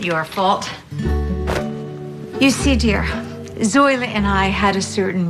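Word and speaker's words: Zoila: about you too well isn't that sweet now Zola actually it's pronounced zoa okay okay all of this no chatter should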